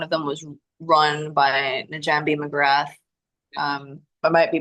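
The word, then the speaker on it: Njambi: Uh one of them was run by Najambi McGrath. Um, I might be butchering the pronunciation that it might be pronounced Jambi with the silent N.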